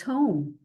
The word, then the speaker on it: home: And then Lien goes home. Lien goes home. These are the letters you don't hear. Look at that E. Home. Lien goes home. Long O. Go. O. Goes. Ho. O. Home. Lien goes home.